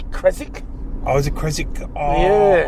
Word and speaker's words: Keswick: don't I don't I don't think you pronounce the W inik I think always say kiswick perhaps laugh my kic joke perhaps somebody could